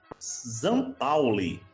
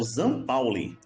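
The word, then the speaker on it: St. Pauli: Comentando agora, gente, rapidamente aqui sobre Bayern de Munique 5, Zampauli. Pensei que era São Paulo, mas a pronúncia correta é o Zan Pauli, clube localizado no bairro de cidade, né, de Hamburgo, na Alemanha.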